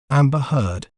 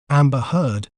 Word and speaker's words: Amber Heard: We may pronounce it as Amber Heard. Amber Heard.